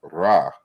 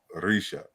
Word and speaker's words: Ra: And they combine these to come with the deity Ra. But we say Ra, but it's not pronounced Ra. It's really like Risha, Raja.